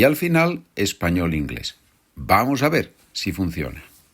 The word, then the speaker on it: vamos: The V, it's pronounced B in Spanish.